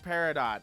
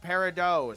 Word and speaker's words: peridot: I'm not saying it peridot. It's peridot.